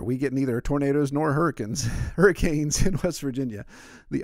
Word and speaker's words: Hurricane: in a town called hurricane it's spelled like hurricane but if you come to West Virginia and you pronounce it hurricane then we know you're not from around here but I actually to